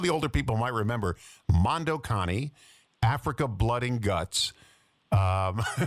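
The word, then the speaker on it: Mondo Cane: It's spelled Mando Kain C A N E. But the movie was pronounced Mondo Connie.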